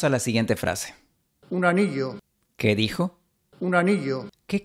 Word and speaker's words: anillo: El Rey pronuncia la doble L de anillo con fricción. Quizás tú pronunciarías aneo, con un sonido muy suave. Pero si haces esto sonarás más extranjero. Pronuncia con un poco de fricción.